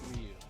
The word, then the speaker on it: Ryu: Ryu. It's supposed to be Ryu. But everybody, so it's both wrong. They're both wrong. Yeah. I think I remember Ryu is like it's just one syllable.